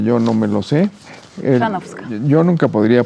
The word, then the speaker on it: Chrzanowska: Chrzanowska. Yo nunca podría pronunciarlo. ¿? Chrzanowska.